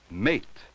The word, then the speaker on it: mate: say these words again listen for the long a sound in each word that has a final e ready say the word as soon as you see it at eight at8 notice that the final e has no sound of its own pan pain pan pain